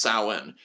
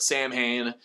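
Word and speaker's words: Samhain: be that person but isn't it pronounced sawin uh yes it is however Dan zigg pronounced it Sam Hayne I guess he made a mistake when he was pronouncing the name in the 80s and he didn't want to admit he was wrong so he just he he just says San Hae same thing with the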